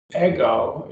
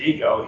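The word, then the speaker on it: ἐγώ: And so if a man has an ego, he's a big I. He thinks he's it. And so that's ego. Notice the accent is on the omega.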